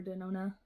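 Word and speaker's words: Denona: had this forever uh natasha dinoni or danona that's how you say it usual palette don't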